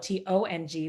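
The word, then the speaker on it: Tung: name you know my my maiden name is tongue t-u-n-g but it's actually pronounced tong in chinese so my chinese name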